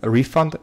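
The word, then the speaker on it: refund: и затем он elephant рефанд на ударение на первый слог не efi вантовый фэн-фу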